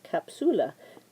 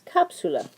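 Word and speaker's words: cápsula: the first syllable which if we were just following rules we would say this is the vowel second to last it would be capsula but it's not capsula it's capsula like a capsule so we need to put this Mark here on the a to tell us to put the stress on that syllable capsula because it's not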